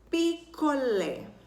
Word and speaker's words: picolé: Picolé. A sílaba mais forte é o lé. Ela é a última. Então, por ela ser a última, nós classificamos ela como oxítona.